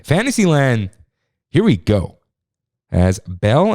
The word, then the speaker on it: Belle: here we go as belle and the beast that's i know that's the proper way to say it but it sounds weird because you know it's beauty and the beast and all that uh so bell on